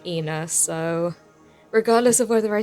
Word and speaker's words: ENA: want to say that i know that her name is probably pronounced anna but i always end up saying ina so regardless of whether